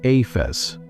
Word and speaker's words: ephes: The word our English Bibles translate as nothing here is the Hebrew ephes, pronounced ay-fes.